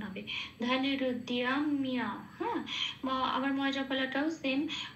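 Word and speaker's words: ধনুরুদ্যম্য: আর অন্তস্থ হলে যেরকম উচ্চারণ হয় দিয় সেরকম উচ্চারণ হবে। ধনুরুদ্যাম্য, হ্যাঁ, আবার ময় জপালাটাও সেম, হর্ষই প্লাস অন্তস্থ হলে যেভাবে উচ্চারিত হয় ময়ের সাথে লাগালে ঠিক সেভাবে উচ্চারিত হবে মিয়া।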